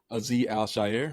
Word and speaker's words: Azeez Al-Shaair: Azeez Al-Shaair.